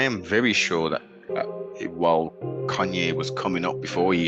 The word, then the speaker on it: Kanye: So it's pronounced Kanye, but he's calling himself Ye.